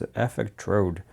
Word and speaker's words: Effectrode: I've been pronouncing it actually incorrectly. It's Effectrode.